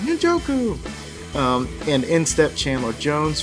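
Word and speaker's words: Ngakoue: just remembered how to say his name you're joku um and InStep Chandler Jones for each Big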